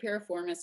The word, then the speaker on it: piriformis: And it's weird not getting any interaction, not being able to hear anybody, but Mike Piriformis is right. Okay, piriformis. Okay. So yeah, piriformis syndrome. And what the piriformis is, it's like a triangular shaped muscle that's in your buttocks.